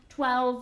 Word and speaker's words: twelve: good pronunciation and remember always pronounce twelve with the V sound Thank You Adena you're